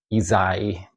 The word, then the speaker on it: Ysaÿe: Um I almost say with a Z instead of a S. So, uh, is I've heard that quite a bit. So, it's Ezai.